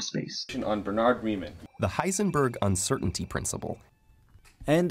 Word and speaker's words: Riemann: On Bernard Riemann.